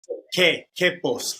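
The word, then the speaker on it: Quepos: the town correctly yeah you don't pronounce the U so it's K Kos I knew that what's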